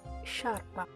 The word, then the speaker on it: sciarpa: In the word sciarpa is pronounced sciarpa. So the E here is necessary to make the sound sh.